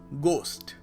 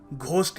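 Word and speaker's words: ghost: Next word is गोस्ट। गोस्ट, यहाँ पर H silent है, सो हम लोग घोस्ट नहीं कहेंगे या कुछ और नहीं कहेंगे।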